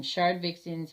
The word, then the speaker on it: Shardvixen's: That's how I say it. Whether you say it that way or not, it's fine. It's spelt that way. It's spelt very phonetically.